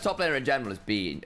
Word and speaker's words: Bin: I mean, the best top laner in general is Bean. It's Bean. Now he's been pronouncing all the top laners. But Bin is just best at everything at the minute.